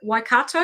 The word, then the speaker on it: Waikato: Waikato, have I pronounced that properly?